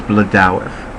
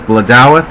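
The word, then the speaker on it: Blodeuwedd: Now, according to Mythbusters, which was a completely underrated and underappreciated television series on PBS, the pronunciation of this goddess's name is Bladawith. Well, she's a very difficult language to speak, so I was thrilled that they gave me a pronunciation.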